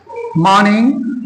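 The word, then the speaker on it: morning: के 12:00 बजे तक मॉर्निंग इस तरीके से इसमें देखिए आप आर का उच्चारण बहुत ज्यादा हम नहीं करते हैं good मॉर्निंग good मॉर्निंग good मॉर्निंग इस तरीके से मॉर्निंग ऐसे करके नहीं बोलते गुड मॉर्निंग ठीक इस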